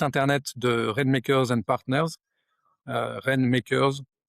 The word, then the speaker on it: Rainmakers: J'ai un compte LinkedIn Christophe, Tézenas Dumoncel ou alors sur, le site internet de Rainmakers and Partners, Rainmakers, ça s'écrit, en anglais comme ça se prononce, and Partners, notre société est à Grenoble.